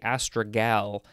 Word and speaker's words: astragal: If I didn't look at the pronunciation guide, I'd probably want to say astragal. Because it's with a G-A-L at the end.